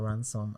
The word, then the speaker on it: Ransom: Like, ransom as in like, I'm going to ransom someone, ransom. Yes, exactly. Ransom.